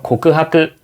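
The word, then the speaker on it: 告白: 고백은 일본어로 고크하크 똑같습니다. 같은 한자를 쓰고 읽는 발음만 조금 비슷하게 다르죠.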